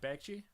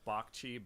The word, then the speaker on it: Bagchee: how did you say your last name um BAGI was is it BAGI BAGI yeah awesome dude it's actually pronounced B CH but um in in you know in Bengali